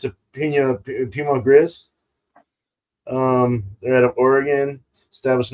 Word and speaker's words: Pinot Gris: Pinot Gris.